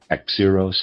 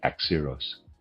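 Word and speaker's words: Axieros: Readers aside, Axeros. I'm is spelled A X I E R O S. And I'm pronouncing that Axios.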